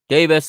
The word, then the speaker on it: Davies: davies or davis again depending where in the world you live if you are in the uk you're probably gonna pronounce that davis here in america we say davies so i'm gonna say davies uh double pivot in